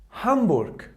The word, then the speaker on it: Hamburg: If the letter G was at the end of the word, it pronounced like weak K. For example, der Burg. Der Burg. That means a castle. Or Hamburg. Hamburg.